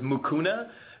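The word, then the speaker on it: Mucuna: available over the counter is spelled m u c u n a is mukuna uh purin I I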